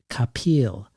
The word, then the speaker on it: Kapil: for years now that almost everyone pronounces Bono's last name Capal like an orange peel and yet the rare